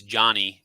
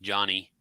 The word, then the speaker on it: Jonnie: Thank you to our Patreons, Adam, Alvin, Charles, Chris, Danielle, Donald, Jeff, Jordan, Jonnie. She says it's Johnny. Pronounce it Johnny.